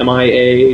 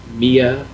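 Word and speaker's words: M.I.A.: Is it M-I-A? Do they say it? Is it Mia? Maya? It's just M-I-A. It's an abbreviation.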